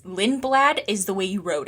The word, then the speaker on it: Lindblad: And Red Bull applied for a super license exemption for 17-year-old Lindbald. Is that how you pronounce it? Lindblad. I think I'm putting in. It's Lindblad is the way you wrote it.